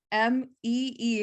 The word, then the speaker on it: Mii: on the me so amy pronounced m-e-e in case you were wondering me like we're saying it tell me more no it is spelled m-i-i it is a customizable